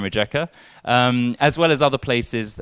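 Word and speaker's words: Rijeka: can't even pronounce like rieka biehlovar ossiak yeah i think of a j in english it said jer so osajek bajalavar and rejecter as well as other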